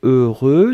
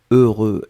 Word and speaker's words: heureux: votre tête deux sont le premier son 16e et le deuxième son sein vous allez voir après que vous avez eu eux le voulaient prononcé deux fois heureux donc ne ne regardez pas le h ne regardait pas le x ne regardait pas le eu juste fermer les yeux visualiser c'est cette combinaison heureux heureux et après